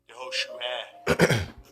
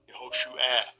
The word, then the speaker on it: Yehoshua: Yehoshua. Yehoshua. And second entry, Yehoshua. All right, you hear that pronunciation? That's modern Hebrew.